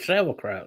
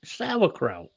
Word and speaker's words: Sauerkraut: I pronounced it how an Englishman would say it, which is sauerkraut. I'm going to get corrected now on the pronunciation. I was going to say, let's do the actual. Sauerkraut.